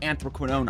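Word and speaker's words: anthraquinone: chapter 3 all the way up to incomplete anthroquinone I looked it up that's how you pronounce it is chemistry we need to take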